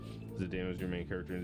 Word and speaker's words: Zidane: But I hated how Dissidia is pronounced Zidane and Titus's names. I agree. It's Zidane and Titus, and I will hear nothing else of it.